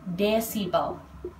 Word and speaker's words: desibel: Satuannya dB atau bacanya desibel.